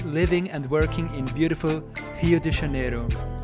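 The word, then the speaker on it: Rio de Janeiro: and working in beautiful hio de janeiro that's how the locals pronounce it and i've been there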